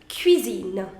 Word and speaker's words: cuisine: see you the pronunciation the pronunciation is q q that i already told you in the first slide cuisine now will you